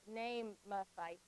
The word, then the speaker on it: Naamathite: So here's the pronunciation. So we have Eliphaz, the Temanite, Bildad, the Shuhite, Zophar, the Naamathite.